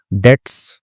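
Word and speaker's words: debts: डे्स ठीक है? डेप्ट्स नहीं पढ़ के बी साइलेंट होता है इसमें।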